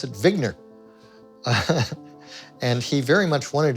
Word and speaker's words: Wigner: vigner professor vigner and he said no I pronounce it vigner and he very much wanted to be an